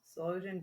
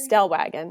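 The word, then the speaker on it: Stellwagen: That's a I'm going to butcher the name. Sloan Solan Bank National Marine Sanctuary. Stell Wagon.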